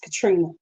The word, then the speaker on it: Contrina: all kind of crazy name is no it's Katrina but that's not how it's spelled I know that's not how it's spelled